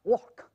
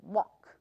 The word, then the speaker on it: walk: 有很多人看到这个 L 在这里，会以为念成 walk，它是没有 L 的音的，它直接就是 walk。这里的是 L 是不发音的。